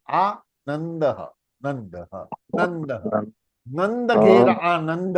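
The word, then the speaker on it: आनन्दः: वही रूल, ऊपर से उड़ा देंगे, द फॉल्स इन त वर्ग, अनुनासिका इज हाफ न, तो क्या बनेगा? आनंदः, आनंदः, नंदः, नंदः, नंद घेर आनंद भयो, नंद घेर आनंद भयो, नंद, नंद।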